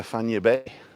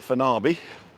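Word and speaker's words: Fañabé: And then the one beyond that is Playa Fanya Bay. And it's not Fanabe or Fanyabe. It's like San Francisco Bay, Fanya Bay.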